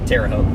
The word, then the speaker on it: Terre Haute: Terre Haute.